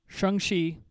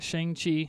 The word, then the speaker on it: Shang-Chi: our first look at at their movie um shanxi is how it's pronounced most people are pronouncing it shang chi yes so either way you pronounce it it